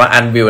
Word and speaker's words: ANWYLL: เฮ้ย เฮ้ย นั่น แหละ อ่าน ว่า อัน บิล และ ผม ก็ คือ